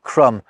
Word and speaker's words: crumb: For example, the words thumb, crumb and limb only gained those Bs at the end to make them match with comb, lamb and womb, which already had them.